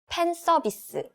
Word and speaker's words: 팬 서비스: 팬 서비스. 팬 서비스? Right, we don't have F sound in Korean pronunciation, so we just use P sound instead.